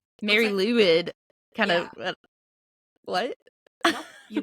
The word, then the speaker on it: Mari Lwyd: of Cryptids as well um so mine is Marie Lloyd yeah that's how you pronounce it Welsh is weird so I'm going